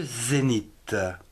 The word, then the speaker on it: zénith: n j'ai un vent passons à des mots où on ne prononce pas le h comme le zénith ze17 et guzet n